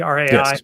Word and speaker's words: rai: see from the cover he's got the the rye on the left am i saying it right the rai yep the big stone money right he's bringing